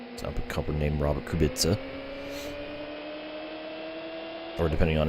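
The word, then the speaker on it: Kubica: Yeah, I think Kubitza Kubitza is the correct way to pronounce his name.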